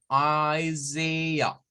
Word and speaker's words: Isaiah: Isaiah. Isaiah. Es la pronunciación que corresponde al nombre Isaías en inglés.